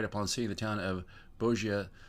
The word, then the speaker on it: Bogia: Take first right upon seeing the town of Bogia, sign that's pronounced Bo-G, but there really is no town there any longer.